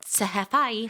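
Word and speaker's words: Tesfaye: How do you say his last name? I bet you don't know how to say it. No, I don't. Sahefai. I learned it.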